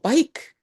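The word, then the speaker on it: baik: Oh, bike. Bike. B A I K. Bike. Bike. Which is very easy to remember. Bike. Oh, bike juga.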